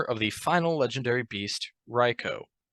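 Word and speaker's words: Raikou: and the owner of the final legendary beast ryko Riku it's right it's pronounced ryko in the Pokemon Rap Noah listen to the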